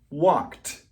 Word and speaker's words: walked: The pronunciation of walk in the past is walked. Why? Because it ends with the K sound. Ends with the K sound in the present, so in the past it's walked.